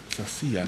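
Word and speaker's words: Sacía: Tu apellido es Sacia, ¿verdad? Sacia. Con el acento en la I.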